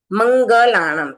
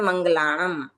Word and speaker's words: मंगलाणं: यहां पर भी काफी कॉमन मिस्टेक देखी जाती है कि जब मंगलाणम बोलते हैं तो ग का पूरा उच्चारण नहीं करते उसको जल्दी बोल देते हैं और बोल देते हैं मंगलाणम तो ऐसे नहीं बोलना है जहां पर भी ऐसे